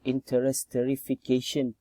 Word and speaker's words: interesterification: then we proceed to the interesterification chemical process okay this is the right pronunciation okay okay so what